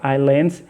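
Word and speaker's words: island: 25वां number question है Andaman Nicobar आइलैंड्स। देखिए आइलैंड, इसको आइसलैंड नहीं पढ़ना, आइलैंड इज़ अ यूटी of India, मतलब यूनियन टेरिटोरी, जिसको केंद्र शासित प्रदेश कहते हैं।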